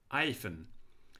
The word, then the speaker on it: hyphen: As in 1757, obviously the word hyphen was pronounced without the H, hyphen.